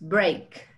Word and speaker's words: break: Pero la pronunciación, pongan atención, es break. Ache. A. Break. No, la A ni siquiera figura, ¿no?